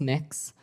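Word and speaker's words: Mx: Cameron tell me what you're you're proposing let pronounced mix um mix is that how you how would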